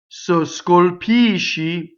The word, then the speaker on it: scolpisci: So scolpisci, the O is in the unstressed position because the accent is on the pisci, right? So it's closed.